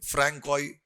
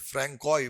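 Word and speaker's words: François: Francois, generally S is silent in France. People they speak like that. Francois Bernier.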